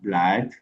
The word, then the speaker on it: blood: vous avoir dit, mais il y a quand même quelques exceptions où les deux O sont prononcés comme des A. C'est par exemple les sons blood, ok, comme les sons, ok, on dit blood, ok, blood, Mhm, parce